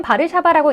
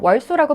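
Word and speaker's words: Warszawa: 심지어 모든 단어를 자신들의 뜻대로 세울, 페리스 하며 읽는 미국인들에게 우리의 수도는 바르샤바라고 읽는다고 아무리 말해도 그들은 아랑곳하지 않고 월소라고 부른다고도 푸념하면서 말이죠.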